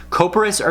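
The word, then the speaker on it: couperose: cocoa press sorry I Pross that's how you pronounce it copra SAR gonna be areas of the skin with distended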